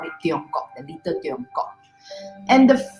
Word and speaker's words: Tiongkok: So when we hear the pronunciation Tiongkok, it's very dialect. Okay, in the Chinese language dialect, especially Hokkien. You know, Hokkien, Teochew. In Mandarin, we say 中国.